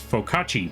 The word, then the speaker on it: focaccia: Oh, also, it's focaccia bread. Oh, focaccia. Is that how you pronounce it?